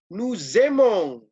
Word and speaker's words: aimons: Nuzemong, ya, nuzemong, ya, nuzemong, ya, AI dibaca E, ya, nuzemong, oke.